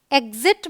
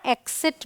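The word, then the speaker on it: exit: ज जाइल ओके और इसे हम एग्जिट भी बोलते हैं और एक्सट भी बोलते हैं तो यह दोनों ही तरीके से प्रोनाउंस किया जाता है अब है जी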